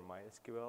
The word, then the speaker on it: MySQL: always ask me like is it my SQL or MySQL or whatever um so the official way to pronounce it is MySQL but we're open for